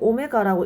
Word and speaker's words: 오메가: 이름을 특별하게 붙인다라고 했었죠 W 같이 생겼지만 사실 읽을 때 그리스 소문자로써 오메가라고 읽으면 된다라고 했습니다 수업시간에 보통 이런 종류의